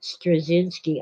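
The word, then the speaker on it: Straczynski: soft C stress zinsky uh anyway he pronounces it strzynski I can't believe how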